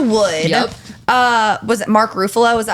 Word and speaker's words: Ruffalo: Kirsten dunce Elijah Wood uh was it Mark rufalo is that how you say itk Ruffalo thank you that's that's why Mark Buffalo Mark